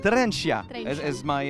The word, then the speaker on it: Trenčan: It is called Trenčan. Trencia.